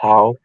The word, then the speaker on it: Howe: Goshen or from I think Howe, is it pronounced Howe, Indiana?